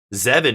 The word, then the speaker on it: Zevin: But Zevin is Zevin, yeah. Do I keep calling him Devin? I hope I'm not saying Devin. Maybe my brain is autocorrecting. Zevin is way cooler.